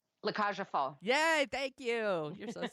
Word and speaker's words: La Cage aux Folles: Because you know I won't pronounce it right. La Cage aux Folles.